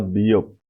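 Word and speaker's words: ㅂ: के बाद बियोप, ये बे की आवाज देता है।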